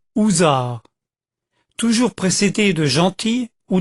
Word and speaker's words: Hussard: Hussard, prononcé housard, toujours précédé de gentil ou de fringant.